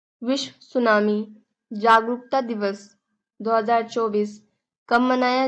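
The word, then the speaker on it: tsunami: उठने वाली ऊंची लहरें सुनामी में जो होता है टी साइलेंट होता है और सुनामी को यानी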